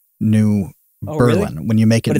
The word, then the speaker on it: New Berlin: Also, New Berlin, which is not Berlin, it is New Berlin.